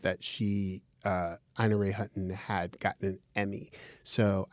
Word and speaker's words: Ina Ray Hutton: We talked about, I pronounced her name wrong. I said Ina Ray Hutton. Her name is Ina Ray Hutton.